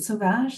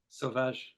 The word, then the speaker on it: Sauvage: Do you pronounce it Sauvage? That's how it would You be did, pronounced in yeah. Quebec. Sauvage.